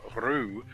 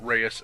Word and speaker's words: Reus: is supposed to be pronounced rue with an emphasis on the rolling of the r but since i'm an american and we tend to butcher things i'll just call it reyes and uphold that grand